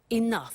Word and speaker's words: enough: doesn't have enough money now this word enough enough it's written e n o u G H the pronunciation is enough what does it mean let